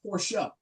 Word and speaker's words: Porsche: And I had somebody point out it's pronounced Porsche.